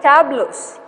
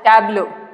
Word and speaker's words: tableau: it they do this okay they're called as tablos okay this is pronounced as tableau okay tableaus now these tabulars that are there